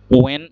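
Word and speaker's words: when: ওয়েন ডব্লিউ ই এন অর্থাৎ এখানে এইচ টা বাদ পড়ে গেল ওয়েন অথবা ওয়েন ওয়েন অথবা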